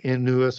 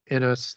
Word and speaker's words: Inuus: Pan, Aegipan, Inuus, and I'm going to come back to Inuus or Inus, depending on how you want to pronounce that, or Bacchus or Cernunnos.